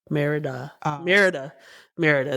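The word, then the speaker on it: Mérida: Merida.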